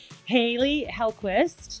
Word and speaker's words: Hailey Hellquist: With me is our Director of Connected Devices, Haley Hellquist.